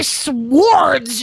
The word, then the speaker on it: sword: You don't say swords. It's sword. The W is silent.